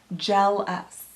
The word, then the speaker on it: Gel-Us: So the magic product is this thing called Gel Us, and it's spelled like gel and then us, like jealous.